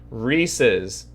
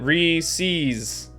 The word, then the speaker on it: Reese's: how it's pronounced chat reese's it's the name rhys apostrophe s if there was no apostrophe then you could pronounce it re sees but it's rhys the